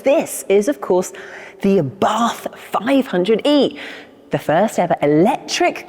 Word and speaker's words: Abarth: little bit more about Abarth, or Abarth, if you want to pronounce it like the Italians do.